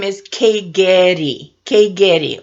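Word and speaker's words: Keigeri: Lola and her last name is Kay Getty K Gary Ola Kae Gary now the word itself Astra diamond is also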